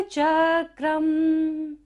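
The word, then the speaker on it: चक्रं: कल्पांत काल पवन्योद्यत, नक्र चक्रम नक्र चक्रम। क के ऊपर बिंदु है और यहाँ पर क्या हमारी थर्ड लाइन फिनिश हो रही है, तो हमें यहाँ पर हमेशा बिंदु का उच्चारण म करना है।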